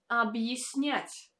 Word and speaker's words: объяснять: And the last word is объяснять. Объяснять, объяснять. Again, here you can notice that this letter Я is not pronounced as Я, but as Е, because it stands in the unstressed position.